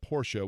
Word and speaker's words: Porsche: lexicon is that of Porsche, which is the proper and traditional German pronunciation, and it's a German manufacturer, so therefore that is the correct way of saying it, right?